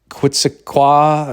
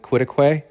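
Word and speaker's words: Quitaque: And then also some of the towns in the surrounding area, some of them have Native American names like Quitqua or whatever, but actually you pronounce it quitquay I think.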